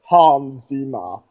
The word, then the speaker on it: Hans Zimmer: the best name ever Hans Zima you know that's how he pronounces it well Hans is my